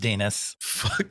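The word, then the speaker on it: Denis: Spelled like Dennis, but pronounced Dinas.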